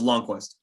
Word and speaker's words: Lundqvist: Again, by the way, how do I pronounce it? Is it Lundqvist or Long? It's Nils Lundqvist.